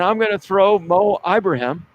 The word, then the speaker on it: Ibrahim: Jim Harbaugh talked about Tanner Morgan, Rashad Bateman, and I'm going to throw Mo Ibrahim. That's how you pronounce his name. Some people think it's not Ibrahim. Okay. It's Ibrahim.